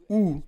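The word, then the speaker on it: οὐ: Mais le deuxè pas dans ce verset est le mot ou qui se prononce o u et qui signifie un nom absolu, une négation sans condition.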